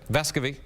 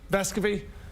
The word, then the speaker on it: Vescovi: Vescovi. Vescovi.